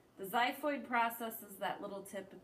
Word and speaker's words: xiphoid: and then the xiphoid it starts with an X but it's pronounced xiphoid the xiphoid processes that little tip